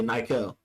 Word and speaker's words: Nykel: I say Nykel.